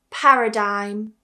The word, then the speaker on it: paradigm: And finally, some words of Greek origin also have a silent G. For example, flem. Flem. Diaphragm. Diaphragm. And lastly, paradigm.